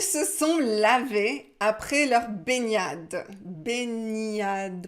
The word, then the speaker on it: baignade: le sujet ils se sont lavés après leur baignade baignade prononciation ni omnium benian ça vient du verbe se baigner baigner le